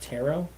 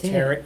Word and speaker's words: tarot: of mediums and Tarot it's called pronounced tarot yeah readings I was corrected because somebody told me I said it wrong yes I call it tarrot cards I didn't oh like carrot I never heard that wow